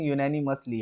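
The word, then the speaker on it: unanimously: कई बार क्या है, कुछ वर्ड्स की प्रोनाउंसिएशन एग्जैक्ट नहीं निकल पाती। आज मेरे साथ ऐसा ही हुआ है। यूनानिमसली, ठीक है, यूनानिमस यूनानिमस होता है, यूनानिमसली। ठीक है, तो एग्जैक्ट प्रोनाउंसिएशन यूनानिमसली है।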